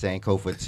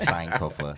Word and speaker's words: Sankofa: I've been saying it's Sankofa too, but then my sisters, it was like, no, you got to say it correctly. It's just Sankofa.